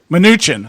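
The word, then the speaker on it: Mnuchin: treasury secretary step um is it muchin or nin how do you pronounce this minuchin minuchin all right that sounds that spell they spell it almost like a Filipino word they don't put a vowel in there okay yeah uh minuchin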